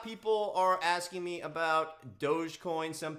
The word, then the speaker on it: Dogecoin: are asking me about dogecoin some people call it dog coin and all different things but uh it appears that it's doge coin um so if that's